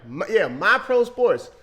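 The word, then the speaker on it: MiPro Sports: Oh, hold on, make sure I said it right. My Pro Sports. Spelled M-I-P-R-O Sports.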